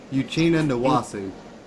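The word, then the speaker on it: Uchenna Nwosu: How do you pronounce his name? Uchenna Nwasu.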